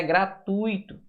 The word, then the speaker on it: gratuito: Você não vai separar gratuito. Não existe a palavra gratuito. O certo é gratuito.